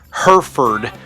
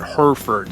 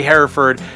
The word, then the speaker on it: Hereford: One quick disclaimer I have to make is the town that I'm going to is pronounced Herford, but my jaw or